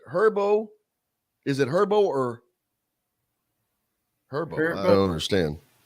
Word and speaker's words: Herbo: No, he's saying is it pronounced herbs Airbo or herbs? Yeah. You know what? That is herbs, a good question. Like Urban Meyer. I like this. No, it's not. It's like herbs as in herbs.